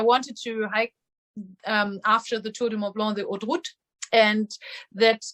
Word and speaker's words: Tour de Mont Blanc: listeners out there, that my heavy American accent, I do not do justice to the Tour de Mont Blanc. You pronounce it much better. Say it one more time for us. Tour de Mont Blanc. See, that's just a lot. That's a lot better sounding than the way I said it.